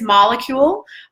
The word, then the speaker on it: Molekule: The top two things that I highly recommend is going to be, one is Molecule. Molecule, it's spelled Molekule.